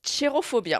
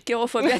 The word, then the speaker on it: Cherophobia: Et pour revenir à la pièce, donc ça se prononce Chirophobia. Exactement. Parce oui. que je dis Kérophobia.